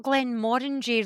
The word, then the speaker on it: Glenmorangie: Is it not Glen Morangy rhymes with orangey? Yeah. Yeah. Yeah. Glen Moran Morangi. Morangy. Morangi. Moranchi. Depends how you say orange.